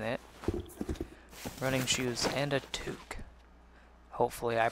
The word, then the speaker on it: toque: yes it even that gives you a press pronunciation in the description tu ke would be how that's pronounced so toque hopefully it's